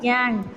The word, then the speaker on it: gangue: ये टर्म याद रखना, जो मिनरल जो उसका इम्प्योरिटीज़ है वो गैंग कहलाता है, प्रोड्यूस्ड एज गैंग, जिसे गैंग के प्रोनाउंस किया जाता है और लिखा जाता है GANGUE।